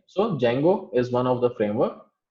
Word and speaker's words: Django: लोग इसको Django बोलते हैं, but D is silent. So Django is one of the framework which is helping us to create a web application.